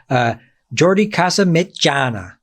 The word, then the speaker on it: Jordi Casamitjana: Jordi Casamitjana. Yeah, you correctly pronounced it, which not many people does.